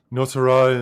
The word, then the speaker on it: Nosara: Nosara, and it's like No Sarah is how it's spelled.